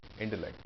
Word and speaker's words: intellect: I agree that he has superior intellect. The stress is on lect. Intellect.